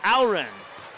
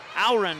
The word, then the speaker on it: Auren: Now the three on the way is up and in for Avery Auren. Auren is how the Fergus Falls Otter parent told me how to say it.